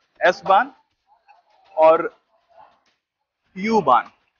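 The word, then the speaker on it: U-Bahn: हो एस बान और यू बान। यू बान को जर्मनी में ऊ बान बोला जाला है, काहे कि यू का प्रोनाउंसिएशन ऊ होला एजा।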